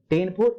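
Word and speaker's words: Ctenophora: poor for Porifera, coal for सिलिंटेटा, टेन फॉर यहाँ पे P silent होता है तो टिनोफोरा, प्लम्बर फॉर प्लैटिहेल्मिंथिस, आस्क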